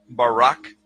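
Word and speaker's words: ברק: or a flash of light in Hebrew is pronounced Barak bar now consider this amazing fact the book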